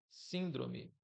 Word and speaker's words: síndrome: e a antipenúltima, ou seja, eu falo síndrome e o N aqui me ajuda a identificar um sinal de tonicidade mais forte do que as outras duas aqui, tá?